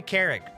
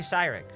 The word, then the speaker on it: Cyrick: If Maguire saw this live stream, he'd be like, "Happy Carrick." That's what he'd say. Happy Carrick. Who the hell is Carrick? Not me. It's Happy Cyrick.